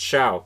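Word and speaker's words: Show: pitcher not fantastic and it's spelled s-h-o-w i'm i remember it being pronounced xiao so i'm saying xiao um but coming into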